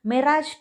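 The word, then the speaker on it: Mirage: அடுத்தது மிராஜ் 2000 அல்லது மைரேஜ் 2000, எப்படி வேணாலும் நீங்கள் ப்ரொனவுன்ஸ் பண்ணிக்கலாம்.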